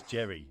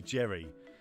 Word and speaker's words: Jerry: called him everything, and he said it's Jerry. It's basically Jerry. That's how you say my name. It's Jerry.